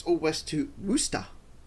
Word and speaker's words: Worcester: It's then all west to Worcester, pronounced Worcester. Ah, it's Worcester. If it's pronounced Worcester, why not just spell it Worcester?